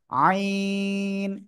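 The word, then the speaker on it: عين: থেকে উচ্চারণ হয় জানেন গলার মধ্যখান থেকে চার আলিফ টানে উচ্চারণ করতে হবে আইন কোন বাতাস বের হবে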